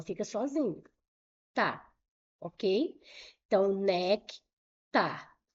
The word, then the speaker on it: néctar: Então, nectar. Qual é a sílaba tônica?